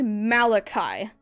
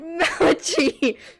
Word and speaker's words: Malachi: right my name is Malachi so when you're pronouncing the last half of my name think of it as if you're saying my full name so Malachi Kai that might help a